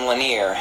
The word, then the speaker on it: Lanier: is definitely the way to go like Jason laner I'll get to him in a second in